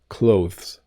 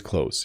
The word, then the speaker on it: clothes: are in Britain though if you are learning a British pronunciation you do hit the th a little bit clothes I I don't never do it's always clothes you know uh I have to wash my clothes I have to do the laundry I have to hang up my clothes after I wash them the th sound is not pronounced when I say this word need sometimes we have